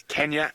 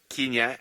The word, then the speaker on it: Kenya: It is Kenya and Tanzania, not Kenya and Tanzania.